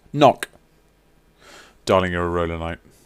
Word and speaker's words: Ngoc: This is for NGOC, pronounced knock.